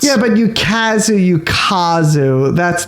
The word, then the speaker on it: Ukazu: I would love to talk to this person because I suspect that is not how her family pronounces her name, because the way she says it is with like a perfect Midwestern American accent.